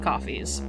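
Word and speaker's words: Ko-fi: us we both have coffees yeah we Kofi um I say is it coffee or Kofi I pronounce a Kofi like Loi who knows there's no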